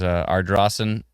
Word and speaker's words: Ardrossan: There's Ardrossan. That's right. I finally know how to pronounce it because of the wonderful folks in our comment thread.